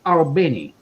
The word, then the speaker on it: Albany: how it's pronounced and she said it's pronounced all benny oh they dwell right